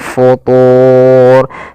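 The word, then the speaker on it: فُطُورٍ: Kemudian fatur di sini ada bacaan mad arid lukun yaitu mad yang terjadi karena alqf waqaf dan sebelum huruf akhirnya ada huruf mad. Di sini huruf akhirnya adalah huruf ro dan sebelumnya ada huruf mad berupa wau. Maka kita boleh memanjangkan dua harakat, empat harakat ataupun enam harakat.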